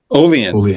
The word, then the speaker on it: Olean: Olean. That's how they say it.